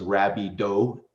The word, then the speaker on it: Rabido: Um, so, uh, correct way to say it is French, my last name. So, it's Rabbi Do.